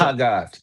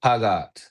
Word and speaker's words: Hagat: Now tell me about um your song with Tell me if I'm saying his name right or wrong. Is it Hagat? Like how do you say it? Hagat. Hagat. Yeah.